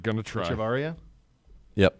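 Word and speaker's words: Echavarría: I don't even know how to pronounce his name. I'm not going to try. Echevarria? Yep. Echevarria.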